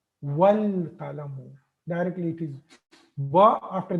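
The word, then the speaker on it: والقلم: So this was al-qalamu, but when ba came to it, this hamza is not pronounced. Wal qalamu.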